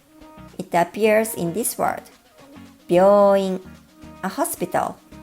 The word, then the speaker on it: 病院: 病院, a hospital. It's important to get the contracted sound part right because without it, 美容院 means a hair salon, a totally different facility.